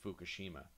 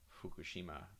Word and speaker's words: Fukushima: the way it sounds people from the west tend to just say you know pure f so um they would say fukushima but in reality uh in japanese it's kind of half f and half h so that would come out more like fukushima with like a exhaling breath kind of h sound kind of blended in there and one